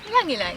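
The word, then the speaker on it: ylang-ylang: How do you say? Just say ylang ylang.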